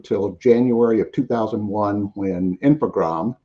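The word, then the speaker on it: Infogrames: January of 2001 when infogram and you do you just dropped the es on the end on that French pronunciation um took over was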